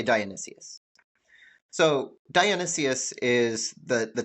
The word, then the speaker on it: Dionysius: What is the character of the tyrant Dionysius, Dionysius, however you want to say it. I'll say Dionysius.